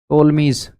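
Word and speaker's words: Ptolemy's: जो यह टोलमीज P silent है।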